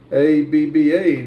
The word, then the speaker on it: ABBA: is pronounced abba not spelled out.